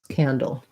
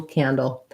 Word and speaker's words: candle: like can excuse me first syllable stress candle um rhymes with handle handle candle sandal etc and then